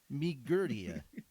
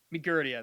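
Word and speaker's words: Migurdia: "Uh, although I did you did you try to say Roxy's last name earlier and mispronounce it?" Migertia. Migertia.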